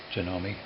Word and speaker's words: Janome: So, and then on many of the parts it says Janome. That's how you say it.